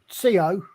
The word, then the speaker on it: Colin: No, in English, it's Colin. So the L tends to be in the first syllable. An American, the L shifted, and it was Colin. The L was on the in, it was Lin, which tended to draw out the O a little bit.